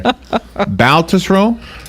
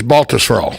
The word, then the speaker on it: Baltusrol: Tom, help me with the pronunciation here. Baltusrol? You're close. It's Baltusrol.